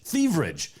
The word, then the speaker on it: Thivierge: Yeah, Thivierge. Thivierge. Yeah. Not at all like it's spelled, Orion.